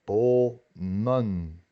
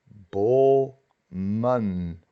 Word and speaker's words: bomen: En plural es bomen. La primera sílaba es una sílaba abierta y tiene una vocal, pero se pronuncia doble. Bomen, árboles.